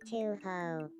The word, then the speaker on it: Touhou: Uh, no, that's that's not how it's like it's more pronounced like uh maybe this will give it a better pronunciation. To ho That's a little bit better, but I don't know.